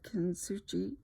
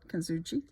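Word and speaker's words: Kintsugi: Kitsugi. And they said the Japanese, actually the S is silent. Kitsugi.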